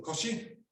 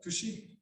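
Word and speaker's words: 腰: So in Japanese, this is your koshi or kushi in the Okinawan pronunciation.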